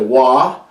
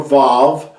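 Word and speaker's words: Waw: It is referred to in modern Hebrew as a Wah, W-A-W, a Wah, or a Vav. But in ancient Hebrew, this letter makes the U sound, not a W or a V sound.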